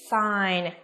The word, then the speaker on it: sign: Nhóm thứ hai của chúng ta sẽ gồm ba cái từ mà có âm g câm, đúng không? Nào, chúng ta quan sát xem nhé. Nào, A sẽ là orange, ok. B, again. C, sign. And D, design.